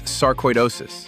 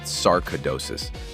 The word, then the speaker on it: sarcoidosis: It's sarcoidosis, not sarcaidosis. Sarcoidosis. Koi, like the fish.